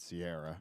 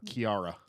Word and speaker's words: Ciarra: which i think makes it Sierra right sure yeah but everybody thinks it's gonna be Kira probably right yeah or Chiara yeah er Sierra just really serious no oh my god